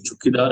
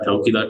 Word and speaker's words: Chaukidar: For the non-payment of land revenue in the right worry areas, capital for no Chaukidar tax, we can pronounce it two ways. Chukidar and Chaukidar tax were refusing to pay this tax, the violation of the different forest law in central provinces.